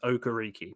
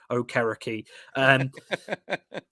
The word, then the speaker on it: Okereke: And then you get guys like decent role players like Bobby Okereke in I'm not saying his name how the announcers say it. It's Okereke. Pat McAfee pronounced it correctly. It's not Okereke.